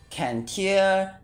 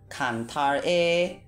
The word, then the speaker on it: Cantare: Cantare, Cantare, Cantare, whatever you like to pronounce it.